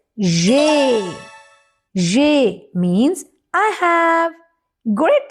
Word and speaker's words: j'ai: And the pronunciation is? Yes, it is j'ai.